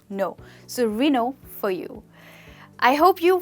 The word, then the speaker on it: Renault: The L and T is absolutely silent. You do not pronounce L and T. You only pronounce no. So Reno for you.